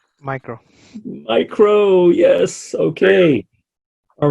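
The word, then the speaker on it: μ: How do we pronounce the U? Micro. Micro, yes, okay.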